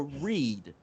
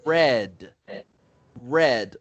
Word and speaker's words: read: it's pronounced read a read read but if you did that in the past it's red red like the color almost so i read a